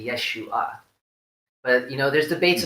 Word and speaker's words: Yeshua: other things Jesus's name his name is not actually Jesus according to the that he break my tear election nice the official mothers of tongue reading of how you pronounce his name it's actually Yeshua but you know there's